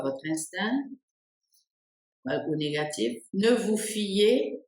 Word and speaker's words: instinct: fz- vous à votre instinct auou négatif ne vous fillez pas voilà instinct instinct instinct on ne prononce ni le C ni le T et la dernière ici